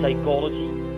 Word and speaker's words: psychology: Letter P is usually silent in letter combinations like PS, PT, PN, use it at the beginning of a word or words like psychology, pterodactyl, pneumonia. But PH combination sometimes is pronounced as F, like elephant, telephone.